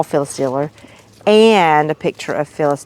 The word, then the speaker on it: Diller: just inform me that I'm mispronouncing that it was Phyllis Diller not Dillard and so I said